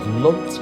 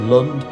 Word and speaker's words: Lound: There were many pronunciations of Lound village. There was Lunt, Lund, Loon and Lown, as well as Lound, but no evidence of